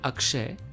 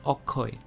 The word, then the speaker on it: Akshay: deepika in awkward so instead of saying akshay he says okoy as you see bengali